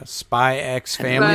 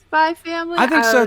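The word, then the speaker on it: Spy x Family: hell yeah spyx family is that how you say it spyx family or is it just spy family I think it's just spy family too cuz that apparently Hunter x Hunter is just Hunter Hunter they don't yeah me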